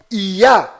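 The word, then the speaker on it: יה: Toda vez que estas duas letras hebraicas estão fazendo referência ao Altíssimo, estão fazendo menção ao Altíssimo, a pronúncia delas sempre é ia.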